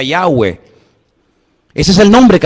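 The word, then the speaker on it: Yahweh: forman cuatro letras y verdad ese nombre se pronuncia yahwe Ese es el nombre que aparece en el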